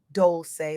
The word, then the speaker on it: Dolce: I'm your host, Doli, pronounced dolce like sweet softness whispered in French.